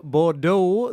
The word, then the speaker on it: Bourdois: It is Bordeaux the Third. It is Café du Vie, Okay. French pronunciation, and New Orleans, not New Orleans.